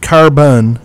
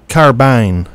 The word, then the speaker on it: carbine: know that now uh it's not carine and it's not carbon it's carbine very good so the